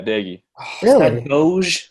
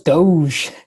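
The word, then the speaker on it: Doege: in some way but is that how you say his name daggy yeah daggy i thought it was doge weird whatever it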